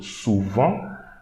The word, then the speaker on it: souvent: Okay, this T we should not read. So souvent, souvent.